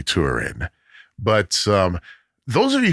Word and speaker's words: Turin: It was my seventh grade teacher who pronounced it Tin. It's actually Turin.